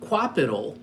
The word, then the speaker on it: Qapital: So Qapital, which is spelled Qapital, uses a if then then that scenario to help you with your investing.